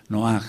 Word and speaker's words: Noaj: veces pronunciamos mal y lo reconozco noaj no es no con acento en la o él eh No sé